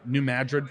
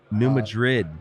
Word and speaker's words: New Madrid: looked into the um New Madrid fault Zone in New Madrid yeah in uh I think they pronounce it Madrid really where's that at